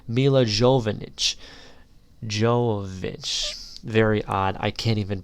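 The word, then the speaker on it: Milla Jovovich: Lilu, played by, I believe her name is pronounced Mila Jovovich.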